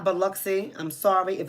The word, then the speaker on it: Biloxi: First of all, for those of you guys who may not be, you have the pronunciation correct. Thank you. So it's Biloxi.